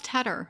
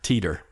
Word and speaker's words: Tedder: Teter. What? Yeah. Maybe if it was TT or No, T E. So I just say it's like the cheese cheddar but with a T on it just so they remember.